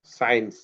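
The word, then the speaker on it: science: আরো একটা ওয়ার্ড আছে সায়েন্স। দেখছো? এস এর পরে সি আছে, সিটা সাইলেন্ট হয়ে গেছে, সায়েন্স, সায়েন্স। কিন্তু যদি এমনি তুমি চিন্তা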